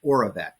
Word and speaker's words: Oravet: It's called Oravet, which is ORA, like oral, and then VET.